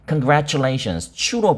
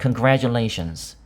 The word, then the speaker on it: congratulations: 아, 미국에서는 좀 그 나이가 상대적으로 좀 있으신 분들은 congratulations추로 발음을 하고 그리고 상대적으로 좀 젊은 분들은 congratulations 주로 발음을 합니다.